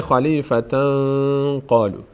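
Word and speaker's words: خليفةً قالوا: نمیگیم نمیگیم خلیفتاً قالو چون این اظهار کردیم اگر این کارو بگیم یعنی نون از مخرج خودش ادا کردیم اینجا اخفا میشه یعنی مخفی میشه نون در بینی میشه خلیفة قالو خلیفه خلیفه خلیفه قالو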